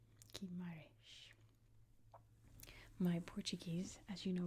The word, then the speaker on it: Guimarães: And the first one we're going to look at is right here, and I believe that's pronounced Guimarães. Guimarães.